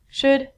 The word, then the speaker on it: should: you like what i xu l i've studied pronunciation on ink vidcom all of these ELLs are silent so it sounds like should good and the thing that we get from